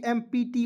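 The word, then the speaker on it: empty: तो देखिए ई को क्या पढ़ना है? ए पढ़ना है। ई को इ नहीं पढ़ लीजिएगा।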